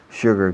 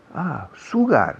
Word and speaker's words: sugar: How do you say sugar cane in Spanish? Caña de azúcar. Sugar. No, sugar no. Sugar es como se escribe.